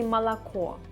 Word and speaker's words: молоко: It's written moloko, but we say молоко.